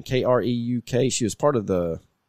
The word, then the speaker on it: Kreuk: It's got Kiefer Sutherland's half brother as the lead, and Kristen Creek. How do you say her name? Kreuk.